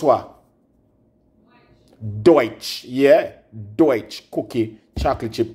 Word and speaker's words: DOICH: How this pronounced? Deutsch. D-U-D-O-I-C-H. Babes, D-O-I-C-H pronounce what? Deutsch.